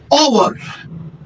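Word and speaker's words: hour: word start होता है मगर वो जो है कंसोनेंट आवाज नहीं देता बल्कि वल की आवाज देता है मिसाल के तौर पर हम एक एग्जांपल लेते हैं ओवर अगर आप इसकी स्पेलिंग देखेंगे एच ओ यू आर और और यहां पर ए ओवर के बजाय एन ओवर आ जाएगा क्योंकि शुरुआत में जो लेटर है वो एच है और आपको यह बताने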